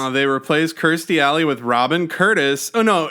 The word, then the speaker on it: Kirsty: I was like, "Wait, that's not uh Christy Alley." Is that I said it right. No, no, no. Yeah. Kirsty Alley. I was like, "Wait, that's not Kirsty Alley."